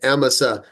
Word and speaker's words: Amasa: he had appointed him I was saying aasa she they they're pronouncing it emsa uh emsa remember he